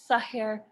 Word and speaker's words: Sahir: way she taught me to pronounce her name sahir rhymes with hair what is it about